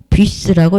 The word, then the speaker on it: bus: 뮤스, 부스가 아니고 버스도 아니고 뷔스라고 읽어야 된다. S도 발음한다.